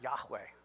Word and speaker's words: Yahweh: hey Val hey this is what it will pronounce a Yahweh this is the personal covenantal name of God